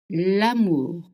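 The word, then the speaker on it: l'amour: Am is love. It's the sound. A is I pitch. A. Okay. Again, we don't have short and long. Only short sounds in French.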